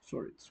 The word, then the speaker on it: swords: For example, the first one is swords, but we pronounce swords without the letter W.